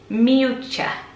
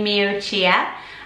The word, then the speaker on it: Miuccia: my pronunciation of it it's Mucha Mucha nothing saying that right see I thought it would be me Oh cheer and this is the